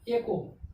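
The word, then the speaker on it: echo: एको, एको means क्या हो गया? सी के बाद क्या आ गया? एच, एको, ECO, एको।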